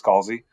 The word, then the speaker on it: Scalzi: We're going to be discussing Redshirts, which was written by John Scalzi, whatever those pronunciations they tried last time, but it's Scalzi.